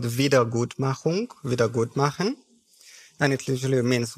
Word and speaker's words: Wiedergutmachung: Can you pronounce that word and then explain that? How about that? So the word is called Wiedergutmachung, Wiedergutmachen.